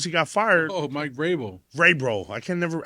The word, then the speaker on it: Vrabel: Yeah, I mean, as soon as he got fired, Oh, Mike Vrabel.